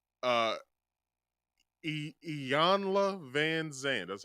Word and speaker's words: Iyanla: or how do you say her name uh iyanla Van Zandt that's how you say her name's